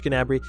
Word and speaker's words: Gnabry: Serge, you pronounce the G, I'm pretty sure. I'm going to go with Serge Gnabry.